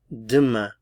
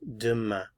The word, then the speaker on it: demain: Demain. Demain. Remember, we generally don't pronounce consonants at the ends of words. Demain.